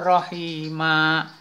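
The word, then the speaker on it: رَحِيمًا: Ghafurur Rahima. Tuh. Rahima, tulisannya Rahiman, tapi karena kita wakaf, kita berhenti bacanya, kita wakafkan, kita berhentikan, maka ini namanya pun mad iwad.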